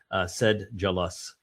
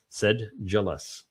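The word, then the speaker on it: sedulous: Yeah, sedulus I guess would be the Oh yeah, there it is. They tell you said jealous uh is the uh is the proper pronunciation. Said jealous.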